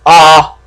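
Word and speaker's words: あ: English letter A but it's pronounced ah not a there is a way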